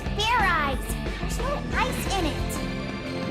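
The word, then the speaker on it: Fairize: eyes Fair eyes is that sort of like fried rice idiot it's pronounced Fair eyes there's no ice in it what does this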